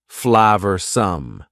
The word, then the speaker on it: flavorsome: and full of flavor notice the pronunciation two schah sounds there Flav some the sauce proved incredibly